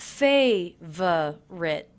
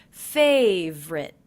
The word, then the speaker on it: favorite: one of my favorite I noticed that I'm dropping the middle unstressed syllable in favorite so it's not favor writ but simply favorite favorite favorite things and